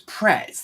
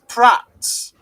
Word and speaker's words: Pret: No, but there was Pretz. There were a lot of Pretz and Starbucks, obviously. They do actually. Are you pronouncing it right? It's Pratt's. No, it's Pret.